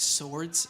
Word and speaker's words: Zords: obviously the American show it's pronounced swords actually even like uh laser